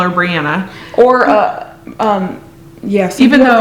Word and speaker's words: Brianna: Although I even spelled it phonetically, so it's BRE for Bree, AH for Ah, and then NA for Na. So Brianna.